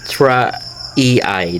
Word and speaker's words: erythraeae: to uh Santivia uh Eritra Ei. So uh it's kind of a hard to pronounce for me. Uh Ira ei. So that's uh what's what it's supposed to be pronounced and uh I guess